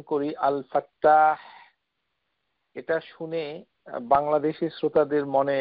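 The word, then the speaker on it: الفتاح: কেননা আল ফা তা মুশাদ্দাদ ফাতহা আলিফ হা আল ফাত্তাহ তো এই নামটুকু কোরআনুল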